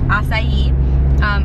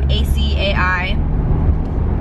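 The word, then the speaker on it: açaí: for an acai bowl, and yes, it's acai, A-C-A-I. Is probably the word that you've seen, and you've probably wondered how to pronounce it your whole life, but it's acai.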